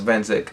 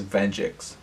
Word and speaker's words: Venzik: So my name is Venzik, and every time I go on Twitch or talk to people, they pronounce my name as Venjix for some reason.